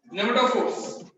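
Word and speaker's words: pneumatophores: Nematophores, right? PNEU, NEMATOPHERES. Nematophores. Nematophores is silent.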